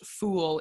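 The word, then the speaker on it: foyle: I need to learn more original pronunciation to know that, but there is a spelling of F-O-Y-L-E and then a pronunciation that tells you it's pronounced fool, but either way, it's like a pudding dessert made with gooseberries.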